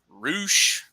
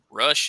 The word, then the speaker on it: Rush: do uh Ray Phoenix roosh rush if you pronounce it the way it's written uh Andrade El Italo